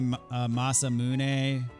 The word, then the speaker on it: Masamune: I also can't say Masamune when Mune is like Moon.